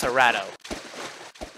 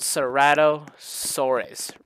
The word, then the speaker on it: Ceratosaurus: So first, Cerato. That's not how you say it. It's called Ceratosaurus, right?